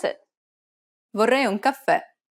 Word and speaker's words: caffè: Did you stress the final syllable? Remember that the accent marker indicates that the syllable needs to be stressed. And since it's a downward stroke, it'll be more of an open E sound, like the E in red.